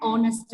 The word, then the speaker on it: honest: Then Ramu is an honest man. honest. This though Vowel H is sound. there. Yeah, Yes, though ma'am. H is there, we pronounce the word with a vowel sound.